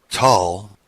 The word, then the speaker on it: Tel: Tal, spelled T-E-L, but pronounced T-A-L, is our race name.